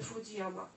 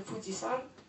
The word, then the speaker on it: Fuji-san: I to jest nieprawidłowe czytanie znaku tego ostatniego. Tutaj Państwo widzą taki jakby trójzor, to jest znak na górę. I on ma rzeczywiście czytanie Yama, ale zupełnie w innych okolicznościach. Bo w tym czytaniu, kiedy dołączamy ten znak do nazwy góry, czy to Fuji, czy inna, to czytamy go jako san. Czyli mamy Fuji-san.